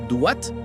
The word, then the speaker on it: Duat: Te preguntarás mientras intentas pronunciarlo correctamente. Es Duat, por cierto.